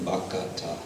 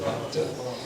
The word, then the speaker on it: bhakta: And usually this is substituting, this is kind of the opposite of what I mentioned before, where there's an adding of a syllable, bhakata, instead of bhakta.